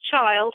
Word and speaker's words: Childe: But it is Childe, even though it has an E on the end of it.